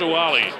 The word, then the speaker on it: Ouali: on the southpaw huali spelled q-u-a-l-i pronounced wali saeed from morocco and